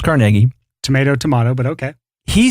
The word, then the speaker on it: Carnegie: People say Carnegie. It's pronounced Carnegie.